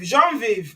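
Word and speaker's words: Genevieve: Number six is Genevie. Jean Viv, that's how they say it in in French.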